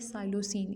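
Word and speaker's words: psilocin: पहली इसका ग्रुप जो है वो है मेस्कालीन, जो दूसरा ग्रुप है वो है साइलोसिन। इसमें पी साइलेंट पढ़ना है आपने, लेकिन लिखना है इसको आपने।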